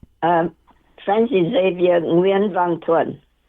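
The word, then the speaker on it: Nguyễn Văn Thuận: Before I go any further, how do I pronounce his name? Um French Xavier Nuen Vantoan.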